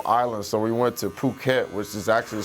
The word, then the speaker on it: Phuket: all the little Islands so we went to Phuket which is actually spelled like effort yeah without having to say the